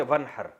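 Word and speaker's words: وانحر: हैं अरबी में नहर तो वन असल में था न हर पढ़ा जाता है मिलाकर वन हर अलिफ साइलेंट हो जाता है वन हर फसली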